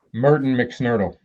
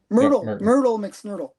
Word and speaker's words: Myrtle McSnurtle: It's not Merton McSnurtle. Yeah, Myrtle McSnurtle.